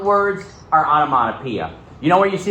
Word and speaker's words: onomatopoeia: notes uh go ahead dane you got it onomatopoeia spelled like this o n o m a t